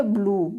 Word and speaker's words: blew: Next, यदि शब्द के अंत में W है और W से पहले ई हो तो W का उच्चारण EU होता है, EU होता है, परंतु EW से पूर्व स्थित कॉन्सोनेंट का उच्चारण आधा या हास होता है, हास मीन्स होता है आधा, आधा या हास होता है, ठीक है। जैसे हो गया ब्लू, BLEW, ब्लू, ब्लू means बचाया।